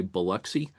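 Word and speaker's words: Biloxi: She, uh, talked about, uh, Beloxy. I think down there they kind of say Buxy.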